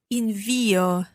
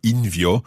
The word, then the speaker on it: invio: Invio. Right. So there's a point there. It's not invio, it's invio.